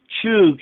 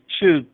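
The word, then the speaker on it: חוּג: He said the Hebrew word is chug and means circle, and that should be final.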